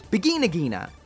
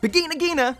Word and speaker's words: Vigna Ghina: a really odd name because in Japanese it's beginner ghena so that would make it beginnig Jeana so for the review I'm just gonna go with the Japanese so it's bikini Nagina from here on out anyway as usual this